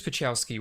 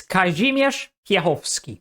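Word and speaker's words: Piechowski: Kazmir's Pachowski would attempt to become Jesus, that pronunciation is terrible, but I don't blame him. He doesn't speak Polish. It's Kai Khovski.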